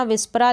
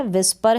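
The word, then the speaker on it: whisper: पर डब्लू एच के बाद इस मैच का उच्चारण प्रनंसीएशन नहीं होता इसको पढेंगे हम विश परिचय पढेंगे विश्व पर यह विप्रा लिखा है विप्रा नहीं है विस्पर है क्या है विजयपथ विजयपथ का मतलब होता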